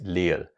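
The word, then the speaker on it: 리을: The second consonant for this lesson is le and le is written like this. Le is similar to the L sound in lie and snow. So, it's L.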